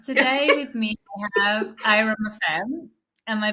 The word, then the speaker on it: Airam: two smiley girls today with me I have IR am I pronouncing that right yes okay people pronounce it like Aram FM but it's Iram FM Iram okay perfect